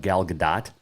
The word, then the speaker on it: Gal Gadot: i watched red notice the other day with gal gadot that is the correct pronunciation by the way um ryan reynolds the